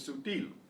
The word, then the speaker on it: sutil: Now how do I know that stress is on the final syllable? Sutil. Because it does not end in an N or an S or a vowel.